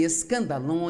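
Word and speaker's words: σκάνδαλον: com os problemas ofendido a palavra ofensa vem de uma palavra grega pronuncia se escandalon e na verdade a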